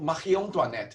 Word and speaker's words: Marie Antoinette: is the wardrobe of marion duanette okay as you can hear from how i pronounce this name she's actually austrian and she's the last queen of france so we pronounce her name in french so last french queen